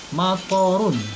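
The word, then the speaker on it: مطر: Dibacanya pendek ya, matorun. Kalau dibacanya panjang nanti artinya beda. Kalau matorun atau mator itu artinya hujan. Kalau dibacanya matorun atau mator artinya bandara ya, bandar udara.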